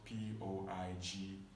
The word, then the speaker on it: poignant: And poignant is spelled Poignant.